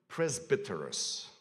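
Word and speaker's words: πρεσβύτερος: It's the word, and I'm going to pronounce it in Greek because you'll recognize the significance of that word. It's the word presbyteros.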